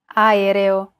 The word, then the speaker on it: aereo: Even when there are two or more vowels in a row, just pronounce them separately. Aereo.